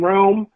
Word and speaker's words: Wrealm: social media platforms search the wrestling realm uh realms spelt with a w so we can have alliteration south of my mother that with her idea w-r-e-a-l-m um w-r-e-a-l-m um so find us